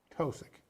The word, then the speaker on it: Tosic: So that we've been talking and messing around here with Ruth Tosic. Yes. I pronounced it correctly.